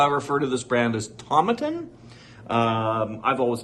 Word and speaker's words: Tomatin: And then I'd go to whiskey festivals and things like that, and I'd say Tomatin, and people would always correct me and say Tomatin.